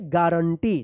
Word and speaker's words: guarantee: गारंटी।